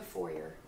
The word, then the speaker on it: foyer: Or the foyer. They see the. It's a French word. Just depends on where you're from. So it's pronounced foyer.